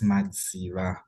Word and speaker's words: Madziva: Hey, Nobunkosi, you butchered. My surname is Madziva.